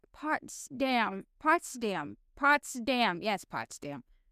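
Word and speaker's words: Potsdam: Yes, pots dam. I'm I'm really sorry. I'm really sorry. I don't pronounce anything.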